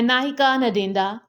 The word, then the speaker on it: Ngaahika Ndeenda: आज जो topic discuss करने वाले हैं वो है नाहिका नदिंदा। ये इसकी किकुयु प्रोनाउंसिएशन है एंड इसकी इंग्लिश प्रोनाउंसिएशन है I will marry when I want.